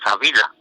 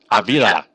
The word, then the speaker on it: Avila: Just to give you a little taste, this is how you pronounce his name. His name is Avila. Avila. Yep. Avila. That's his name. Avila. That's right. The correct pronunciation. It's a Cuban name.